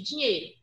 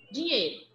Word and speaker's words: dinheiro: Quando eu falo assim, ó, rapidamente, dinheiro, dinheiro, é como se esse E tivesse um circunflexo e não tivesse o I presente.